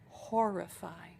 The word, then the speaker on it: horrify: terrify them horrify them sometimes it's a hard word to pronounce for Brazilians because it has two RS and the Brazilian brain tells you that that makes an H sound it doesn't it's an R horrify horrible okay hey thanks